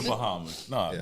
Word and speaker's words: Bahama: It's the Bahamas. You show it to anybody outside of, and only a select few people will actually know it's pronounced Bahama.